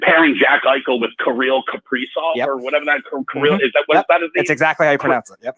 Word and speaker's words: Kaprizov: Dude, just imagine pairing Jack Eichel with Kirill Kaprizov or whatever that Kirill is. That that is? That's exactly how you pronounce it.